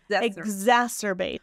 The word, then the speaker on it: exacerbate: one um ex ex exacerbate there we go like I'm going to make egg exacerbate exacerbate oh my gosh last